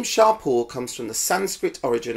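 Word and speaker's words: Champo: are two products from shampoo which is actually pronounced sharp or and it's a British based brand taking inspiration from his founders Indian heritage the name Sharpe all comes from the Sanskrit origin of the word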